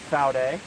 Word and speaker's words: Vaude: What I've got here is the Vaude, and it is German, so it is pronounced Vaude with a F instead of a V.